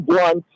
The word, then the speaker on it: Blount: it is spelled like Blount, but it is William Blunt. It's pronounced Blunt.